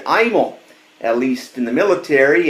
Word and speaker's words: Imel: who I am first my name is pronounced imal long I story is my grandfather my father's father served in World War two and at that time the family pronounced the name Emel his commanding officer said that in most sounded to german who were fighting in world war ii and he said that the name would henceforth be imal at least in